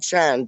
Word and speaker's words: Can: It's spelled like Chan, but it's spelled like Can.